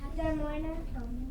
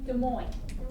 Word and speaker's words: Des Moines: And you say the I, O, and then the A, you kind of stand it up, and then you say, you know how money is spelled? You can kind of say it looks like money, and then Which one?